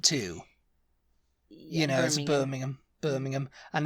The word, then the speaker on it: Birmingham: um the next one is Birmingham in Alabama Birmingham and it's like if I say oh I'm going to Birmingham Alabama they they' know what I meant yeah